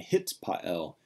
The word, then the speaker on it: hitpael: Look at the name again, hitpael. The hit part is added onto the front, hit.